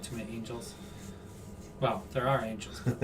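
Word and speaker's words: Ángel: Uh uh Angel Martinez or Anhal Martinez. You know that one. It's on Hell. On most of the time it is, right? Yeah. There's not too many angels.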